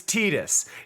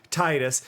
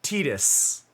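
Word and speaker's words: Tidus: thing here's the thing the character's name officially in interviews is tetus it is supposed to be Titus it was written to be Titus but the official English pron pronunciation is annoyingly tetus and I hate it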